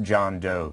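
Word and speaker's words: Jun Do: we we're told that his name is pronounced john doe to sort of the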